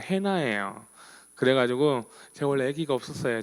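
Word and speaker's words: Hannah: 영어 발음으로 한나가 영어 발음은 해나예요.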